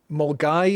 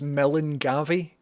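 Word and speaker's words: Milngavie: Mulgai is the name of a place, but spelled out as Melan Gavi, but you don't say that.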